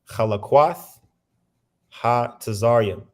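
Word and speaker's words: חלקת הצרים: And just hearing the pronunciation of that shows you that Esau's transliteration doesn't do no justice, because that don't sound nothing like what's written in the text, but that's actually what this actually how you pronounce it.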